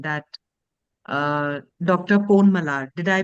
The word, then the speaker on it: Ponmalar: Ponmalar, did I pronounce it correct?